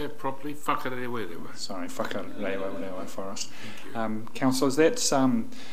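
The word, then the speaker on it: Whakarewarewa: Whakarewa.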